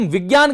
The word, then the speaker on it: विज्ञान: आप सभी लोग, अधिकांश लोग, मैं जानता हूं कि इसका उच्चारण जो है वो ज्ञ के समान करते हैं, जबकि इसका विशुद्ध रूप से जो उच्चारण है वो ज होना चाहिए, जिसको हम विज्ञान कहते हैं।